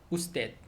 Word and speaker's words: usted: 그래서 usted, U-S-T-E-D, usted이지만 알파벳 큰 U, 그 다음에 대문자 U에다가 소문자 D, 그 다음에 점, 그렇게 해서 써놓으면은 그냥 usted 이라고 읽으면 되겠어요.